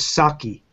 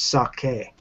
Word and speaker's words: sake: know the same with saki you know a lot of people in America say saki but that's actually not a word in Japanese it's sake you know so you